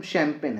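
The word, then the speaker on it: champagne: ऐसा लिखा जाता है, स्पेलिंग सही है, ठीक है, लेकिन पढ़ते हम शैम्पेन है।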